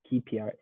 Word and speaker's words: KPI: tpi i would say kpi okay you need to print you okay you need to say the letter k correctly kpi kpi okay k-p-i okay